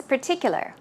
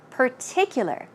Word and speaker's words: particular: r per per and in this case there is no r sound it's a p pa so let's try it out particular particular this time particular particular it's your choice